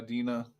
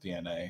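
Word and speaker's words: DeNA: Yeah, that was a huge thing in Final Fantasy Record Keeper as well, which is made by Dina. Evil people. Yeah, DNA. Actually, I think it's pronounced DNA.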